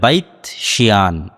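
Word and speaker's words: Beit She'an: Hebrew এবং আরবি উচ্চারণের পার্থক্যের কারণে তারা উচ্চারণ করে বাইত শিয়ান, যেটা আরবিতে এসেছে বাইসান, সেটাই হিব্রুতে বাইত শিয়ান।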